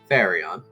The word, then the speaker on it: Farion: Farion. I can spell it Like out. Flareon without the L. Yeah. At least in terms of pronunciation.